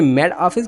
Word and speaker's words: Met Office: मैंने इसलिए बोला क्योंकि T के शुरू में भी E है और आखिर में O है, दोनों में syllable है, क्या है? वॉवल है। तो ऐसा T जो दोनों वॉवल के बिटवीन में हो, चाहे स्पेस भी हो, उसको D में कन्वर्ट करते हैं, जैसे Met Office।